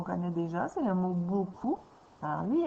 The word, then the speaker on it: beaucoup: Souvent, il y a des gens qui prononcent pas bien le mot beaucoup et qui vont dire beaucoup au lieu de dire beaucoup. Donc, il ne faudrait pas que tu décides de mettre un ou parce que c'est pas bou, c'est beau, beaucoup.